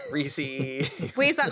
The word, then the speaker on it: Reese's: just pronouncing it correctly Reese's Reese's Reese's wait is that not right Reese's it's not re I love it I like more rees's pces it Rhymes and it's fun Rees people it's Reese's Pieces that's why they